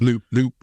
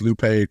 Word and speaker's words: Lupe: It's Lupe. I thought it was Lupe too until I just listened to the book and heard her say her name.